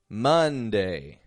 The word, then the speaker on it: Monday: as a letter U spelled with an O pronounced with a u uh sort of sound words like Monday oven color dozen uh they're all getting an uh sound just a u uh but this spelling